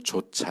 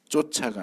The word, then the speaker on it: 좇아: 몇 번 말씀 드렸는데 발음을 조심하셔야 되요 성령을 좇아 해 줘 짝 쫓아가 아니고 쫓아 그러면 내쫓는다 그런 뜻이 조차 그래야 따라간다 하는 뜻이죠 성령을 좇아 성령을 따라서